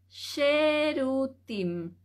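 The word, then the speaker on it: שירותים: escribir baño y al lado vamos a escribir cherutín sh e r u t i m Entonces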